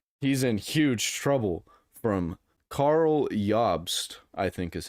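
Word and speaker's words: Karl Jobst: in huge trouble from Carl yobst I think is how you say his name name or jobs but I think the J makes it y absolute Legends can you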